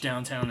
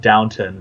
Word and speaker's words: Downton: So it's spelled Downton, though, with no W.